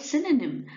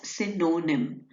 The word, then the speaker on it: synonym: Okay, so the word synonym. Now, you will not pronounce it as synonym. It is synonym. That means it will be sin.